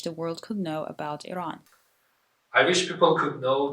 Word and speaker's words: Iran: Iran, but it's actually pronounced as Iran.